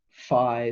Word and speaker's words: Phi: to represent it because Phi sounds like the beginning of flux our fee I suppose if we pronounced it correctly and that's just defined